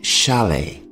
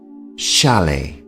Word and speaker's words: chalet: house is called a shalet the T here at the end of the word is silent shalet and because they are